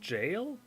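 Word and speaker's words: gaol: so ludwig's rifle 10k yikes what gaul is pronounced jail and it's it's an it's an actual what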